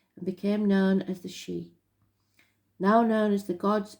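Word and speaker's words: Sidhe: Master number 33, Sade. Ancient knowledge, help and dimensions. Oh, sorry, I pronounced it wrong again. She, S-H-E-E. It's spelled S-I-D-H-E, but you pronounce it she.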